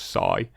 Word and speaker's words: Cy: they pronounce it is spelled CY but it's pronounced Sai for what reason it was short for cyclone